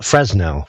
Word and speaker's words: Fresnel: about something called fresnel spell fresnel but pronounce fresnel because it's French and frou-frou it's named